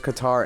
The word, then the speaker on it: Qatar: I think it's pronounced Qatar, but like there's Qatar Airways. Oh, okay. They say Qatar Airways so American people can say it, but I think you say it with the inflection of Qatar.